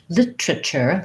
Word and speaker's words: literature: a flap t it sounds more like litter litter uh with a ch sound british literature literature they'll they'll use the clear tea and they'll get rid of one of this also this er syllable literature literature um and